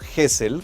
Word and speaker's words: Gesell: izado un poco y mi madre siempre me llamo hessel como con jota h podría ser si